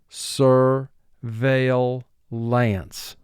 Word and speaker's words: surveillance: word pursue row seven surveillance surveillance the suspect was placed under surveillance sir vale lance this is a three syllable word the first syllable is sir two sounds s er veil three sounds mark the word sir